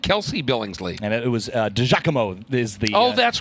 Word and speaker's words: DiGiacomo: And it was DiGiacomo is the that's pronunciation right.